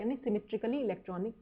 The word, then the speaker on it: Jahn: I think ये, और इसको हम ना यान बोलते हैं, YAHN, जो उसकी प्रोनाउंसिएशन होती है ना वो यान होती है एक्चुअल में, पर क्योंकि हम हिंदी भाषी लोग हैं तो जे दिखा तो जय ही बोलेंगे, तो इसलिए हम इसको जनरली जैन टेलर बोल देते हैं,